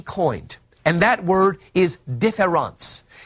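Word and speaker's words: différance: and that word is differance now in French that's spelled d-i-f-f-e-r-e-n-c-e derida spells it with an a-n-c-e so I'll call it difference with an a this word doesn't exist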